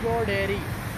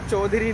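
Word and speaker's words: Chau Dairy: सर चौ डेयरी। चौ डेयरी? यस सर। ये चौ डेयरी है, चौधरी नहीं है, मैं गलत था।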